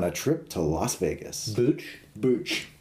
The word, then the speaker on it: Booch: Booch? Booch. How do you spell that? B-O-O-C-H. Oh, Booch. Like Bach, Ernie Bach Jr. But Booch.